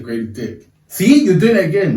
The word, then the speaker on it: Grady Dick: They massively missed out, and now he's the next best young guy they got on their team, Grady Dick.